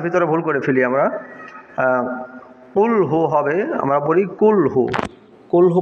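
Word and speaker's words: قُلْ: যেমন সূরা ইখলাসের ভিতরে ভুল করে ফেলি আমরা কুলহু হবে আমরা পড়ি কুলহু কুলহু পড়লে কাফ দিয়ে উচ্চারিত হয় কুলহু উচ্চারণটা হবে কুলহু কফ দিয়ে তাহলে অক্ষরটি উচ্চারণ পরিবর্তন হয়ে গেলে পর অর্থ পরিবর্তন হয়ে যাবে।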